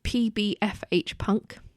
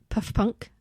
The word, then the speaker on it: PBFH Punk: In the 3 years I've had them, I've done 1,300 sales on my main one, which is PBFH Punk, not Puff Punk as Alexa keeps pronouncing it.